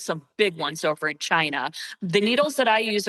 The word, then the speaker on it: qi: by your organs and there's something called chi energy which it's spelled qi.